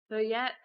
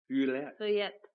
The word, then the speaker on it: Feuillette: Feuillette. Feuillette.